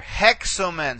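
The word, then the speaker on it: ἕξομεν: So you see here, this has a rough breathing mark and an accent on that syllable. Okay. You're going to have the same issue here. Hexomen.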